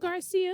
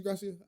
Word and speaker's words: Gracia: Garcia? I think it's Gracia. It's the Gracia. Let me Google this for you, butcher the man. No, it's Gracia.